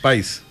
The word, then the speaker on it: Pais: el de Juan Carlos Pais o País, no sé cómo se pronuncia. Pais.